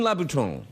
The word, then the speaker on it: Louboutin: the shoes are very nice I am Christian Louboutin yes the pronounce it correctly which is very good well